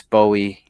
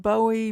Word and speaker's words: Bowie: So Dave Crockett, James Bowie, and Daniel Buy. Yes, please. Let's do say buoy. James Buoie. Yes, it should have two O's. Jim Buouie. Jim Buouie. No, it's pronounced Bowie.